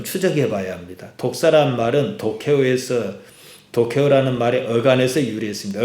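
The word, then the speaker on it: δόξα: 헬라 말로 독사입니다. 그 우리 뱀에 독 있는 뱀이 독사인데 발음이 똑같아요. 독사.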